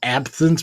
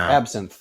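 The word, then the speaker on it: absinthe: An absence bar. No. Absin. You know the green fairy. Oh, I know what it is. I just can't pronounce it. Absin. Yep. Absinth.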